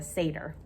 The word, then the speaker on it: satyr: Side note, I watched the Percy Jackson movie, and I've been saying what Grover is wrong all the time. It's a satyr. If you see how it's spelled, S-A-T-Y-R, I don't know, but that's what it is.